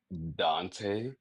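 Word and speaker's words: Donte: Dante. um is that's that's actually how it is um pronounced even though that's not well that's that's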